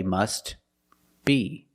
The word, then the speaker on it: must be: If you separate the words and you pause between words, then you could say must be. But if you link the words, you pronounce it must be, must be.